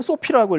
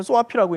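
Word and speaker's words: SOAFEE: 이게 그 외국에서는 소피라고 읽고 우리나라에서는 소아피라고 있는데 어쨌든 뭐 이 소피라고 하는 단체가 최근에 많이 이슈가 되고 있습니다.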